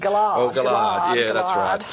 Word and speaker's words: Gillard: Oh, Gillard, yeah, Gillard. That's right. He made a good attempt at g'day that's as well. Right. Look, phonetically, the US briefers have really got to